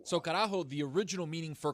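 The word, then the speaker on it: carajo: How do you spell it? C A R A J O. So Karaho, the original meaning for Karajo was on a old Spanish gallion boat, right?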